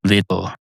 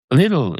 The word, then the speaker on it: Lidl: Lidl is pronounced differently in different countries, I understand. Some people pronounce it legal. Some people pretend there's an extra vowel in there, as there should be. It's spelled Lidl. Lidl. That's not a word in this country. Some people pretend it is, so they say it's Lidl.